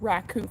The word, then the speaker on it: raku: Oh, at least my pottery teacher called it raku firing, but I think it's spelled Raiku. Seems like it should be pronounced Reiku. I don't know. But she always pronounced it like raccoon with an N.